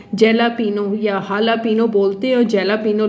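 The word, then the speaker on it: jalapeño: Pano or Lapino and Jela Pino is written as Lapinose, Lapinose is pronounced as Lapino.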